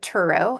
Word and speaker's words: Turow: No, we both pronounce it Turow, actually.